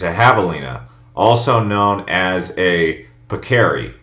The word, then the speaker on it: javelina: up is a javelina it's not pronounced javelin though it looks like it it's a javelina also known as a